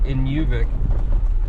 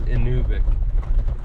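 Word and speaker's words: Inuvik: anuic inic yeah anuic I was saying it wrong all these years in I used to say in yic with a u but they they told me uh the local said it's inic anyway we'll push up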